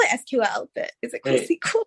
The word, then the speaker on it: SQL: care does it go well actually it's called a sequel but yeah it's whatever you call it sequel was fun